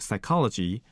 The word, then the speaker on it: psychology: most well-known example is psychology where P was not pronounced but spelled out another example can be